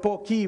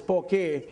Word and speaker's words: poke: itself the dish poke i used to call it pokey but no it's pokey so when when i